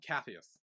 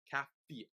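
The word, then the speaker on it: Capheus: Oh, um, Cathus.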